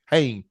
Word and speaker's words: Haney: Rosemary Haney? How you pronounce it? Hain.